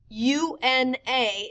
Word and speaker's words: una: U-N-A is pronounced una. U-N with a tilde A is uña.